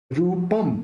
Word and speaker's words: रूपं: रूपम, अब यहाँ पे जो प के ऊपर बिंदी है उसका उच्चारण अपन म करेंगे क्योंकि यहाँ पे प है। प बोलते समय दोनों होठ मिल जाएंगे तो वहां पे उसका प्रोनाउंस म निकलेगा। और रूपम प्ररूपयति किम, अब